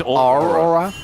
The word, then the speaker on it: Aurora: That was Aura. That's what Morgan just utilized there. He just kind of... It's actually pronounced his Aurora.